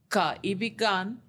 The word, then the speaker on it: Kaibigan: But I'm going to attempt the pronunciation, Kaibigan ng Correct.